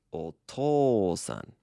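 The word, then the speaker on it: お父さん: not really that's because an ooh after an O makes a long o sound oh yeah I like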